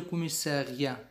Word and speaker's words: commissariat: Où est le commissariat? Où est le commissariat? Où est le commissariat?